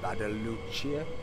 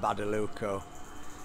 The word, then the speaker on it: Badalucco: in a town called badalucia how do you say town called badaluco it was a coastal